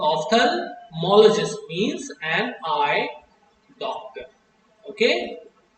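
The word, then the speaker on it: ophthalmologist: ऑफ्थल्मोलॉजिस्ट। याद रखेंगे, pronunciation बहुत इंपॉर्टेंट चीज है।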